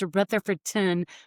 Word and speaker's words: Rutherfordton: If we say it correctly, it's Rutherfordton. But if you live here, it's Ralston.